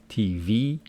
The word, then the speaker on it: TV: Here I told you that these abbreviations carry their stress on the final syllable, making it TV.